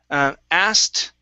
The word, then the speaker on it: asked: and next we have asked okay so instead of asterab astey it's asked rob acts to rob okay good and the